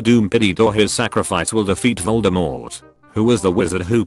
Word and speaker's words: Voldemort: You pronounced Voldemort correctly. Thank you. Rhyming with door, not short.